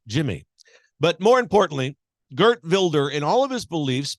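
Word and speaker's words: Wilders: by the name of Girt vilder spelled like we would in America pronounce Wilder but it's vilder Girt vilder he's the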